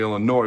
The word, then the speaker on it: Illinois: Okay, they had given up the second most amount of sacks in the entire Big Ten Conference, only Illinois, where the S is silent, was worse.